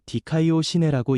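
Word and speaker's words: δικαιοσύνη: 의에 이른다는 의미 에라는 말은 헬라어로 디카이오 시내라고 읽습니다.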